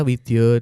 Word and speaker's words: Widya: Oh ya, yang benar Raden Tumenggung Ivan Prapanca Widyo Dipuro ya. Widya. Widyo. Kalau ditulis memang Widya. Widya. Oh, Tapi iya. kalau dalam pelafalan Jawa A-nya ada Jadi titik O.